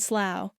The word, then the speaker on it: slough: This rhymes with how and now. The words are bow, drought, plow, and slough.